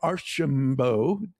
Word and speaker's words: Archimbaud: that he has an incredibly hard name to pronounce. So So we're going to introduce Andre Archambo.